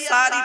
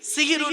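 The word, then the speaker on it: সাহরি: মানে হবে জাদু করা আর সিনে জবর দিলে দন্তের সময় আকার দিলে মানে হবে রাতের শেষ অংশের খাবার তাহলে শব্দটা কি হবে সেহরি না সাহারি তাহলে ভুলটা ভাঙলো খবরদার নয় আর সেহরি বলো না বাবা এবারে বলবে কি সাহারি কি বললাম সাহারি এটা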